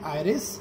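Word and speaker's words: iris: तो इस ये जो आयरिस होता है, एरिस भी प्रोनाउंस कर सकते हैं, इस पर डिपेंड करता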